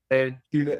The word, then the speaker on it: Chouler: Chouler. Chouler? Did I pronounce that correctly? Chouler, Chouler.